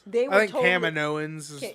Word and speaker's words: Kaminoans: They were I think totally, Kaminoans is how yeah, it's pronounced too.